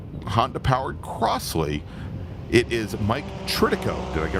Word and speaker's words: Tritico: It's Patrick Tritico. Not Mike Tirico.